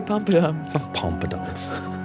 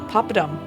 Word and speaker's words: poppadom: Papadoms. There you go. Pompadoms. I think it's pompadoms, isn't it? I'd say pompadoms. It's not pompadoms.